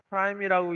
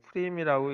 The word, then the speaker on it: Prim: 이걸 갖다가 프라임이라고 읽질 않고 이 사람은 프림이라고 있는데요.